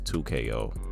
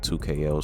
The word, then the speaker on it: 2XKO: And I think the best pronunciation for this game's title is 2KO. I definitely think 2KO sounds the catchiest out of this game's